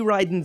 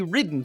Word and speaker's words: Ridden: this right here is Johnny riding Zaku well it's spelled Johnny ridden for some reason both of